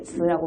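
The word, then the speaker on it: 词: 단어는 사라고 불려지고 이렇게 츠라고 발음합니다.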